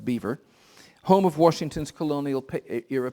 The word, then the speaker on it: Belvoir: In 1758, the play Cato was staged at Belvoir, probably pronounced Beaver, home of Washington's colonial era patron.